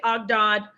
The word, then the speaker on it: Ogdoad: Let me show you the Ogdoad and I don't always say it right. Some people say Ogdod, the Ogdoad, the 8.